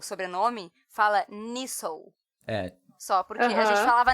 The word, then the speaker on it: Nestlé: E porque escreve Nestlé, pessoal, pra quem tá nos ouvindo, é exatamente como a marca, Nestlé, mas fala Nissou. E aí eu queria pronunciar a palavra correta, entendeu? Aí eu alguns pronunciam Nestle.